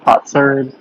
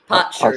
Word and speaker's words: potsherd: Potsherd. Potsherd. Potsherd. Potsherd. Potsherd. Mm-hmm. Potsherd. Potsherd. Okay. So kind of like a pot shard. A shard of pot.